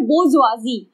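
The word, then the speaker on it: bourgeoisie: और इसको कहीं ना कहीं बुक्स में जो वर्ड यूज हो रहा है वो हो रहा है बोर्जुआजी, ठीक है। It's pronunciation is quite complicated but right है, मैं इसकी स्पेलिंग लिख रही हूँ यहाँ पे, बोर्जुआजी, ठीक है।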